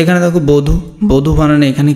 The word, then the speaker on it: বধূ: একদম সিম্পল, রস্যকার দীর্ঘকার যেটাই থাকুক না কেন উচ্চারণ আমরা কি করব? রস্যকার করব। ক্লিয়ার? তো এখানে দেখো বধূ, বধূ বানানে এখানে কি হচ্ছে?